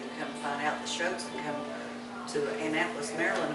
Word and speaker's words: Choat: That's interesting, because mother's mother was a Shoat from Sparta. Oh, No S. this is a CH. C-H-O-A-T. Oh, and it's Shoat. pronounced shoat, Shoat. not ch.